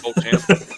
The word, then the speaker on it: Beauchamp: It's Beauchamp. That's Beauchamp.